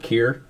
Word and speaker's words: Keir: where you all landed uh fort keir uh spelled like tear but with a k that is where most